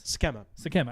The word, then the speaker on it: Sikkema: Sikkema? How am I saying this? Sakema. I said it right.